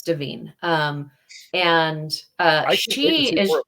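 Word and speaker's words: Da'Vine: said her name wrong it's deine not Divine oh deine okay it's davine um and uh she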